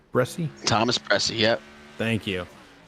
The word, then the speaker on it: Bresci: Did I pronounce that right? Bresci?